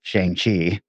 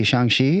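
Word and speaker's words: Shang-Chi: in the movie because as a kid i pronounced it shang chi yeah and then i have a chinese friend who's like oh you're going to go see shangshi and i was like what my mind was blown is that how you pronounce that feeling very ugly american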